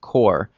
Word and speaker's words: Kur: Core, it's spelled K-U-R.